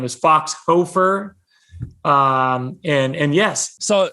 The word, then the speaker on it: Hoferer: a crazy last name it's spelled h-o-f-e-r-e-r there's like a silent er these crazy germans added a silent er onto a name so it looks like hoe for ur but it's pronounced hofer and so you know